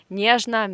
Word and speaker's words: нежно: Нежно means delicately or tenderly, yeah. So the stress is on не, on the first syllable. So this O in the end we pronounce as А.